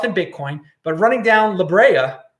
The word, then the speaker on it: La Brea: I didn't plan on running 8 miles, but I ran down La Brea. I'm pronouncing it correctly now, all you LA people.